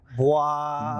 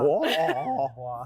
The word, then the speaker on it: Bwaaa: Bwaaa. Bwaaa. Yeah, something like that. The Yes. noise that Hank Hill makes, so it's like an onomatopoeia.